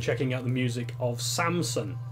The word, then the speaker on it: Samson: would strongly recommend checking out the music of Samson s am s o N as in em